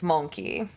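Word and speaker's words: mon-keigh: humans from yeah it's it's pronounced like monkey it's monkey that's their like slur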